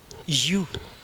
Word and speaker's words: ewe: இதனுடைய உச்சரிப்பு என்னவென்றால், Christmas ஈவ், for every Adam there is அன் ஈவ், this is யூ. சொல்லுங்க, யூ.